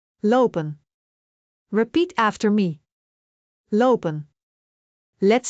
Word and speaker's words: lopen: For example, the word lopen means to walk. In English, we might say walking, but in Dutch we say low. Pen. Pronounce both syllables clearly. Lopen.